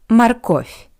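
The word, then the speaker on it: морковь: Carrot in Russian is marov. Marco. I want to remind you that the first O is unstressed. That's why it sounds like a marov.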